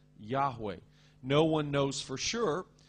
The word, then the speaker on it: Yahweh: The name of, in English, we often say Jehovah. And probably the Hebrew pronunciation is something like Yahweh.